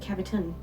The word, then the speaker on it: Cavitown: It's called Cavitown because cavern, cavity, Cavitown. Actually, I pronounce it Caviton.